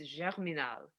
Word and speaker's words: Germinal: think is pronounced, it's Germinal. I don't think it's Germinal. I always said it Germinal because I'm an American.